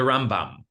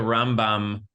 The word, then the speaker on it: Rambam: So the way that we distinguish is you hit the Rambam first syllable and the Ramban second syllable. Okay, so just some Jewish literacy, for you. The Rambam and the Ramban.